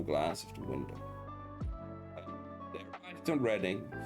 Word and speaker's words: Reading: They reading the city kept mistakenly pronouncing as reading.